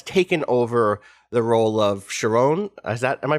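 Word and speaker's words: Charon: stella who has taken over the role of sharon is that am i pronouncing that right okay good thank god i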